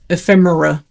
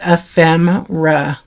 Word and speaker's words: ephemera: They're like ephe ephemerra. Yeah, they don't know. It's ephemera, but they say like another way.